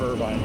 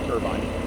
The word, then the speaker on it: Irvine: Like you know, we've heard of Irvine, California, right? Well, we have an Irvine, Kentucky, except it's not Irvine. It's Irvin.